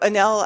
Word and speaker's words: Enel: I remember Enel. I didn't know they sold and somebody else came in between. They did. So Enel, I think, or Enel, I pronounce it.